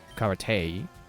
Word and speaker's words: karate: But no, it is it is karate because it's a Japanese word and there's only one way to pronounce each vowel. Ka ra E is always e. So yeah, but if you